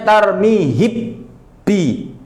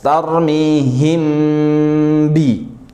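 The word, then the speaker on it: ترميهم: Kalau idgham berarti kita masukkan mim kepada ba. Mimnya hi hilang. Jadinya tarmi bi mimnya hi hilang. Suara mimnya hilang. Itu kalau seandainya kita pakai cara baca id idgham tarmi bi. Tapi kan bukan itu yang kita mau ya. Maka ini cara bacanya itu ikhfa. Kerja satu hasil dua. Kerjanya sekali tapi suara mim dan ba itu je jelas. Tarmihim.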